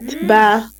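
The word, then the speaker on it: ب: We read it by making our lips closed.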